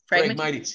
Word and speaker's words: Phragmites: And then how do you permanently remove, you've said this like five times and I keep forgetting how to say it, the Phragmites? Phragmites, yeah.